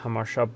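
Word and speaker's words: Jamacha: is pointy parkway and hamashab boulevard it's written jamaica oliver but pronounced hamasha bolovart and again the green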